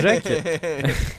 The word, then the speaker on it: Jacques: Et Richard Jacques. Surtout selon ta prononciation. Non, mais pour le coup, ça se prononce vraiment. En fait, ça s'écrit Jacques, J-A-C-Q-U-E-S.